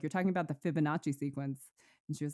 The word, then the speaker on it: Fibonacci: I say it right you did it's the Fibonacci sequence it's actually really funny cuz Tiara was